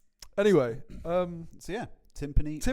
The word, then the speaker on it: timpani: Anyway, so yeah, timpani rhymes with Limp Knee.